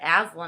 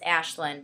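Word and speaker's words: Aislinn: i know that um it's spelled a-i-s-l-i-n-n so it's like aslin i when i first thought i was like athlean i was like isn't that the lion and narnia like and i'm gonna be thinking of like a talking like teddy bear like what am i doing uh so no but it's ashlynn but you know because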